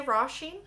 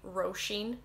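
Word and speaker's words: Róisín: my best friend rasheen i say rasheen i've noticed on in dublin and they laughed at me for the way i pronounce it but they would say roshin so you can pronounce it like either whatever one sounds nicer to you it has a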